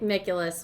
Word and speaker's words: Mikulas: Today we have your favorite weatherman, Mikulas with Cenla Weather. Yay! You pronounced it right Yay!